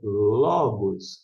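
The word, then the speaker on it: λόγος: acento aqui na verdade todo o acento na língua grega serve só tão somente para indicar a sílaba tônica por isso a palavra é Logos aqui que está sendo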